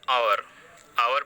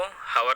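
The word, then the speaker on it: hour: एन आवर पढ़ा जाएगा, इसको हावर नहीं पढ़ा जाएगा, तो यह स्वर ध्वनि से शुरू हो रहा है।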